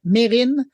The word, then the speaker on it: Mesrine: lui m'a dit, écoute, moi je m'appelle Mesrine, c'est comme ça que je prononce mon nom, je comprends pas pourquoi on le prononcerait différemment.